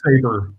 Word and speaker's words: Sabre: But it's pronounced Saber, but it's S-A-B-R-E.